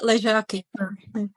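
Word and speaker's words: Ležáky: Só falar com som de J, é só falar o Z ali com som de J. É Lechak, não é? Enfim, Lejac.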